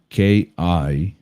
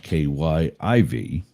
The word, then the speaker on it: Kyiv: Turns out for decades we've been spelling it wrong and pronouncing it wrong. So you used to see it K-I-E-V. It is now K-Y-I-V. And instead of Kiev, it's Kyiv.